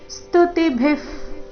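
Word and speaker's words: ಸ್ತುತಿಭಿಃ: ತಿ ಮೇಲೆ ಆಘಾತ ಸ್ತುವಂತಿತ್ವಸ್ತುತಿ ಸ್ತುತಿಭಿಫ ಅಲ್ಪಪ್ರಾಣ ನಂತರ ಭಿ ಮಹಾಪ್ರಾಣ ಬಂದಿದೆ ಸ್ತುತಿಭಿಫ್ ಪುಷ್ಕಲಾಭಿಹಿ ಪುಷ್ಕಲಾಭಿಹಿ ಪು ಮೇಲೆ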